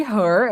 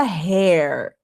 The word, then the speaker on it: her: Esse her aqui, observação acerca da pronúncia, que não seria hair. Hair. Tá vendo que a minha boca abre para pronunciar hair? Que é cabelo? Hair. Esse daqui a pronúncia é her.